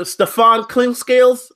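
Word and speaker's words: Steph Clinkscales: Stephclinkscales. Did I pronounce your name right? You pronounced it perfect, brother.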